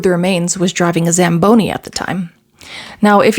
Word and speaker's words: Zamboni: Anyway, I bring this up uh because Lua keeps mispronouncing it as Sam Bony and also has no idea what it is.